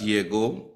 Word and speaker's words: llegó: So to tell her that llegó, accent on the end, so that means it's the past tense.